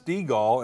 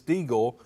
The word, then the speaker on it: Stegall: well thanks you know my name is stegall and everybody says steagle so i try to